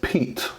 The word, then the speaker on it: Piet: today we're doing the review on the crkt Piet Piet so it is actually pronounced Pete Pete this is a crkt peat I know